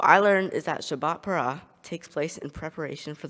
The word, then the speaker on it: Parra: my favorite number also my last name is para which is pronounced like the Shabbat parah it was meant to